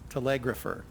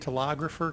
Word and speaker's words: telegrapher: of the word is telegrapher. I was saying telegrapher, kind of like photographer, It's an E sound or an eh sound in there. So, but telegrapher is not correct.